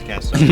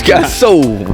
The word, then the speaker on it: Caso: that how it's pronounced? Caso. Yeah, it's Caso. Nah, Hey, it's Caso.